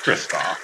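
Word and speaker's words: Kristoff: Kirstoff, it's Kirstoff.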